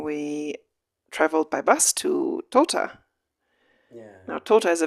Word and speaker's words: Tota: So Tota is again a Muisca word that it has these two syllables.